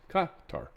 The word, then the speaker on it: Qatar: That's how you're supposed to say it. Not Qatar or Qatar. It's Qatar. Qatar.